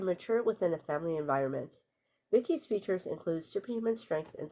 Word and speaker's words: VICI: So VICI, an acronym for Voice Input Child Indicate, pronounced Vicky.